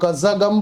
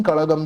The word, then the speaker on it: कड़गम: द्रविड़ा मुनेट्रा कड़गम बना वह कज्जागम बोलते हैं उसका प्रोनाउंसिएशन कड़गम भी बोल सकते हैं।